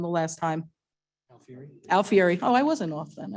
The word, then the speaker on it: Alfieri: I said it wrong the last time Fury Alfieri oh I wasn't off then I was okay Alfieri Jacobs LLC and I am looking forward to